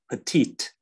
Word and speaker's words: petite: you see this it's petite yeah you pronounce the T at the end if there is an e after it does it answer your